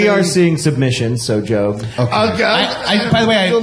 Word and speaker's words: Job: Yeah, Job.